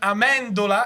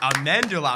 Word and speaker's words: Amendola: Ladies and gentlemen, Maison Amandula, and I'll pronounce it the Italian way. Thank you for coming. Thank you guys so much for having me. Amandula.